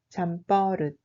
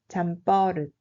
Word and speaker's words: 잠버릇: 잠버릇 se prononce comme 잠버릇. 잠버릇.